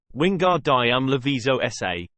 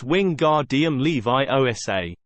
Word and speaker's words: Wingardium Leviosa: "Ron, you're saying it wrong," she snapped. "And you're going to put someone's eye out. Like mine. It's Wingardium Leviosa. You need to swish from your wrist, and make the gar nice and long while you're doing it."